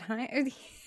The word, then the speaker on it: Haim: Is it Haim? Like Heimlich, but Haim.